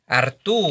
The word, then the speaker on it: Arturo: Yeah, but nevertheless, so You pronounced my first name correct, though. It's Arturo. Arturo.